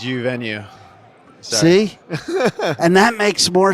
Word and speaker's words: Uvenu: Did I pronounce it right? It's you venue.